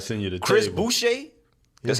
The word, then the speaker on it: Boucher: Boucher.